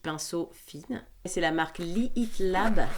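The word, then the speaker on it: Lihit Lab: fines c'est la marque leat Lab leat Lab ça se prononce pas le hache mais c'est pour que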